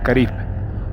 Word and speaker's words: caribe: cristo al color y hoy sabemos que en la época la pronunciación correcta sería caribe los caribe eran pueblos